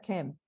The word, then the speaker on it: km: esa en esa época ellos no tenían vocales entonces la palabra se escribía de esta manera km y se pronuncia kem entonces de ahí deriva